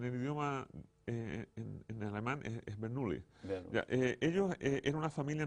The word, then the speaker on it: Bernoulli: En castellano le dicen los hermanos Bernoulli. Bernoulli, ¿ya? ¿Qué hicieron ellos y qué pasó con ellos? ¿Qué aportaron en esta historia de la isoperimetría? Y en el idioma, en alemán, es Bernoulli.